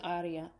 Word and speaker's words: aria: The accent goes on the first syllable in aria.